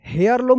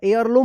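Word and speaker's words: heirloom: लम यहां पे देखिए हेयर लम नहीं होगा एयर लम होगा एयर लम एयर लम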